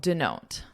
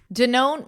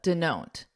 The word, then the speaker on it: denote: All right, let's talk about Denote. Denote means represents and listen to that pronunciation. The denote denote so it's a very unstressed.